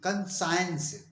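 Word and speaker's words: conscience: एन एस सी आई ई एन सी ई कं साइंस कं साइंस means अंतः चेतन अर्थात विवेक इसी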